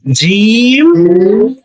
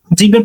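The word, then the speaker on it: جيم: জিম জিমটা জিহ্বার মাঝখান চেপে উচ্চারণ হবে।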